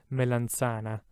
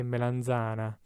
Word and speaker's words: melanzana: is regional right so if you were from the north of italy you would probably pronounce this word melanchana and if you're from the south you'd probably say melanzana it really depends and